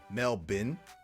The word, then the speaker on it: Melbourne: deep fried is better deep fry a boot melbin melbin no I don't I don't say it I see Mel borne we may have Melbourne Florida Craig but